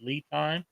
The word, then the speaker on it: LiTime: of batteries, I went with a company called LiTime. Isn't that how you pronounce it, Josh?